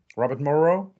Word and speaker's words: Robert Morrow: Sorry, Robert Morrow. Do I pronounce it correctly?